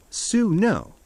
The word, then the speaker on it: swnw: He is a SWNW, pronounced su no, the Egyptian word for a physician.